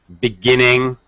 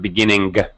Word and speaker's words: beginning: One thing, Igor, be careful of NG sounds. Beginning. It's not beginning. There's no G sound.